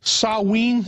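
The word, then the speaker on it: Samhain: know the real name I think was called saween is that the correct the correct pronunciation yeah and in the Celtic British aisles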